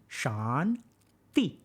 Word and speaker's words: Shanti: So put your tongue between your teeth. T, T, T, T, T, okay? Y'all got that? So this is how you say shanti.